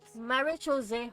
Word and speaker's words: Marechaussee: group known as the Marechaussee Hunters. Marechaussee Hunters. Hey, that's how we pronounce the artifact.